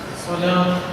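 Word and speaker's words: صلاة: വാവിൽ അലിഫ് അല്ലേ? പിന്നെ ത. അപ്പോൾ ഇതെങ്ങനെ വായിക്കാം? സ്വലാത്ത് എന്ന് തന്നെ വായിക്കുള്ളൂ. സ്വലാത്ത്. അപ്പോൾ ഇവിടെ വാവ് എക്സ്ട്രാ വന്നിട്ടുണ്ട്, പക്ഷെ അത് ഉച്ചാരണമില്ല. വാവ് എക്സ്ട്രാ ഉണ്ടെങ്കിലും ഉച്ചാരണമില്ല.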